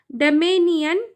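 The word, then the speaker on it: dominion: इस एस के वजह से यहां पर हम इसे डमेनियन पढ़ेंगे।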